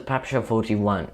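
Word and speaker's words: PPSh-41: around ninety thousand were made next is the pepsi 41 yes it is pronounced pepsi i've looked it up the pepsi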